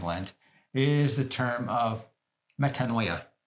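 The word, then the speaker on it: μετάνοια: I heard a Greek priest, and I'm sure he's saying it better than I have, said it to you this morning, metanoia, metanoia. So that's how the Greek pronunciation is, change of heart.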